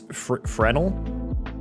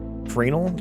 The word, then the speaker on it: Fresnel: I didn't know the S was silent for the longest time. Are you fucking serious? So it's Frenel? Frenel?